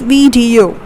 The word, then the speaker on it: video: saying it as video it's not video it's video it's vdo we are putting our stress on the second syllable that is vdu okay the third one which